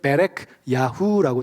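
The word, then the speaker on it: Berechyahu: 그래서 히브리 원어로 이렇게 하고 이제 발음을 하면 베레크 야후라고 돼 있어요.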